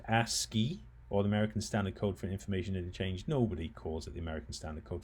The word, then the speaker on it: ASCII: So here we go, the ASCII code page, pronounced ASCII, or the American Standard Code for Information Interchange.